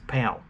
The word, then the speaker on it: PAL: of like you know spelled as a friend p-a-l-pal but they pronounce it as pal but you got your